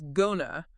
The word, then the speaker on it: gonna: The power phrase is gonna, as in going to, pronounced G-U-H-na.